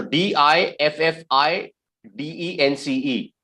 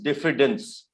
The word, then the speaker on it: diffidence: d i d for dog i yeah so d-i-f-f-i-d-e-n-c-e the the way you pronounce this word is diffidence diffidence diffidence that's correct yes second word e